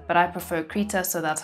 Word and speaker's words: Krita: I've heard it pronounced Krita and Krita, but I prefer Krita, so that's how I'ma say it.